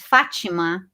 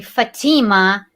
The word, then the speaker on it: Fatima: name right and you in brazil you pronounce my name is fachima in america they pronounce my name fatima and that and that